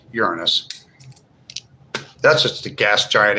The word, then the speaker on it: Uranus: That's how it's pronounced. Uranus. It's not Uran anus. It's Uranus.